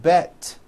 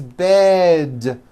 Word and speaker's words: bed: words with d endings bed has a voiced d ending it's not bet with an unvoiced T it's bed with a voiced d